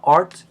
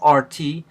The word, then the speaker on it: Rt: most of the time pronounce the name of the computer program art instead of RT just like we uh